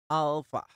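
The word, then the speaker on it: άλφα: kita akan belajar menulisnya pengucapannya Alfa ahl jadi seperti itu pengucapan yang benar tapi pengucapan yang benar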